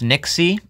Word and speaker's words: NYXI: video is sponsored by nyxi Gaming also can be pronounced Nixie as you can see